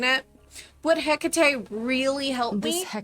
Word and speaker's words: Hecate: Do you guys pronounce it or hate? Because I have heard it both ways. Um, we'll go with the way that the the um game is pronouncing it. Would Hecate really help me?